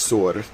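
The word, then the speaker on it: Tyre: Um there's like um Sur, which is spelled T Y R E. It's not Ty, it's Sur.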